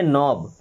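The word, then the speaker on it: knob: इस वर्ड में तो हालांकि के साइलेंट है। इसे हम पढ़ेंगे नोब।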